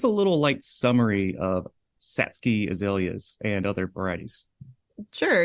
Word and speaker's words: Satsuki: spelled Satsuki right but like a lot of the Japanese words it's pronounced a little bit differently than it's spelled so it is pronounced satsky and it means um